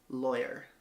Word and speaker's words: lawyer: how do you pronounce the first syllable of lawyer rhymes with boy I just said it lawyer I know people say